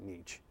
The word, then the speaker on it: niche: I've heard it pronounced both ways. I prefer to pronounce it niche.